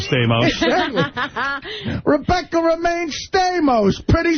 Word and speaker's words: Stamos: I think homos rhymes with Stamos.